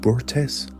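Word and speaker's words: Börte: The third key factor in this period was his marriage to Berte, pronounced Burtes, the daughter of the chieftain of the Ungarat tribe.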